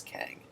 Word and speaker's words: QENG: And QENG, if you pronounce that, can also be considered Kang, or pronounced as Kang.